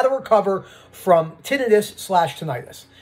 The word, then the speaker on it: tinnitus: recover from tinnitus slash tinnitus the reason why i say it like this is because i say tinnitus but some of the british people will say to this i'm sure rob says tinnitus the brits i love